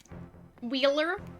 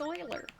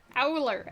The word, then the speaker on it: Euler: Wheeler. But earlier it was Euler. Euler.